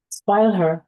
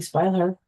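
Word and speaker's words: Spieluhr: And then we get to number 7, which in English is called Music Box, and you can say the German pronunciation. Spoil Her. I think I'm saying it correctly. Spoil Her.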